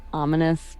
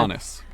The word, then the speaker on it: Umanus: on Okay, the island that I called ominous but mispronounced it. So now Umanus. so now it's Umanus.